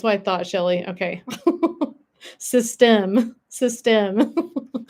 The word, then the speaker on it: Systeme: Not system, but system. System. You have to have that little You have to have that like a little bit of a pause there. Huh? System. So, the accent is on the right part.